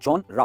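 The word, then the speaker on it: genre: और जब हम इसे प्रोनाउंस करते हैं जैसे जॉनरा, तो हल्के सा साउंड आता है, राइट? जॉनरा, जॉनरा, right?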